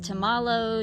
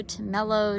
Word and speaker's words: Tumalo: name to tumalo now tumelo is pronounced a few different ways to mallow to mellow to mallow i'm not even gonna